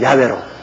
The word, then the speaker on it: 야훼: 우리 교회도 보면 뭐 찬송할 때는 또 여호와로 불렀다가 기도할 때는 또 야훼로 불렀다가 나는 뭐 찬송할 때나 어딜 때나 여호와 이름 나오면 그대로 우리 아버지 정확한 발음은 야훼로 그렇게 발음을 합니다.